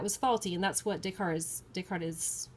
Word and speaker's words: Descartes: Descartes, which we pronounce Descartes or Descartes, okay?